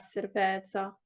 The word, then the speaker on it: cerveza: io querer beber cerveza or io quiero beber cerveza. Exactly. So Oppure that's pretty well. So just the pronunciation, la it's cerveza, cerveza, cerveza, cerveza.